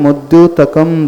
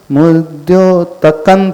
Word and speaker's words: मुद्योतकं: मुद्योतकम दलित है। कई लोग इसे ऐसा भी प्रोनाउंसिएशन करते हैं, इसका मुद्योतकन पढ़ेंगे वो, मुद्योतकन दलित पापतमोविताना। सुना है? मुद्योतकम ना पढ़ करके वो ना पढ़ते हैं।